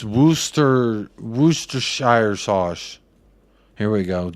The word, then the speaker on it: Worcester: maybe I'll do that literally everyone in England calls it Wooster sauce Wooster woosta Worcester yeah you're right